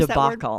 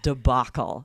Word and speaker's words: debacle: An absolute debacle. Is that how Yes, you pronounce debacle. that word? Okay. I know it's Just making spelled sure. kind of strangely, but it's pronounced debacle.